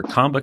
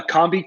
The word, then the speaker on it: Combi: business you've got uh is that Combi keg or combo keg how do you say yeah so that's uh Combi keg 30A Combi is the nickname